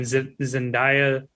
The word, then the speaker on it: Zendaya: I think when Zendaya, that's how you say her name, I think